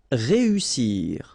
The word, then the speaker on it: réussir: Then éviter, établir, réussir. Okay, so here, vowel, second vowel here, and then double S. So in that case, you've got to pronounce it like a real strong S. S.